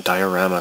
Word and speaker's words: diorama: this Mr di diorama that's the Japanese pronunciation diarama clay Mr diarama clay